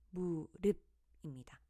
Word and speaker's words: 무릎: 때문에 그대로 물로 발음합니다 다음 무릎은 어떻게 발음 될까요네 무릎입니다 받침 피읖은 비읍으로 바꾸어 발음합니다 다음 솜이라는 단어는 솜이라고